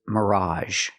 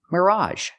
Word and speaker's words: mirage: the next word is Mirage Mirage again we have the AG making the a sound Mirage Mirage is a